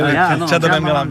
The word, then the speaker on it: Chendamangalam: Changdamangalam.